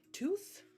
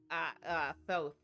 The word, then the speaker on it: Thoth: And you would be, is it Tooth? I'm saying it wrong, aren't I? Thoth. Thoth. There's Okay. a long O.